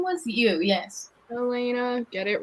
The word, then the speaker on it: Yelena: name was you yes elena get it right elena that's what i said joanna the y isn't pronounced elena yes the y is just not pronounced oh this name is